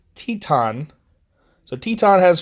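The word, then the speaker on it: Titán: I've been saying his name wrong the whole time. It's Teton.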